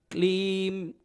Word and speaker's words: क्लीम: क्लीम, क्या बोलना? 2 मात्राएं। क्लीम, क्लीम नमः शिवाय, क्लीम नमः शिवाय, क्लीम नमः शिवाय।